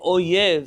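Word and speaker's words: אויב: Likely, if you read this in an Ashkenazi pronunciation, it all sounds the same anyways. But if you're saying oyev and ohev, they're two different people. One is a friend and one is a foe.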